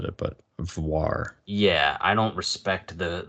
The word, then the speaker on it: Voir: look at it V it's Noir but with a V so he he had